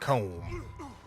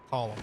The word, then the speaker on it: Colm: Comb? Although it's pronounced Column.